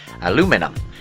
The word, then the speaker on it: aluminum: To do this, he used aluminum, or as Americans say aluminum.